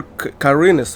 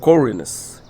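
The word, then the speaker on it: Khorinis: They pronounce it here Carines or something. Even though in the original they all pronounce it correct. Corines.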